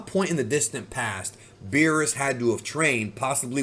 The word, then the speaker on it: Beerus: When the movie first came out, I remember people called him Bills, and that's an incorrect way to say his name, but it's one that is actually official in the Spanish dub because they felt like Beerus sounds too much like